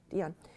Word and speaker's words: Dion: Dion.